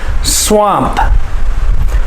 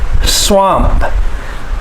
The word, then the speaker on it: swamp: is a short a swamp swamp you must make the p sound on the end but not a strong p sound it's not swampa but